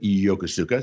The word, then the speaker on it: Yokosuka: japan uh and uh yakuza or as the japanese pronounced it yokosuka so i had not